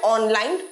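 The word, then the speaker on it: online: সাথে বট TV through অনলাইন portal সঠিক উচ্চারণ অনলাইন অনলাইন স্ট্রেসটা পড়বে অনে অনলাইন নয় অনলাইন অনের উপরে স্ট্রেসটা পড়বে অনলাইন ঠিক হয়েছে এরপরের ওয়ার্ড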